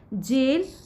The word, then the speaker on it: gaol: उसके अलावा ये जो वर्ड है दैट मीन्स जेल, ये जेल है GA, यहाँ पर OAL, सॉरी GAOL, जेल यहाँ पर वर्ड है हमारा।